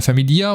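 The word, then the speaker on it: Famiglia: qui l'aime tout particulièrement la famillea c'est la familleia faut dire je crois qu'on prononce pas le G on prononce pas le G en Italie un jeu de Maximilian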